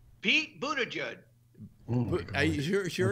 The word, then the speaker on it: Buttigieg: But Scott, do you know how to pronounce his name? Pete Buttigieg.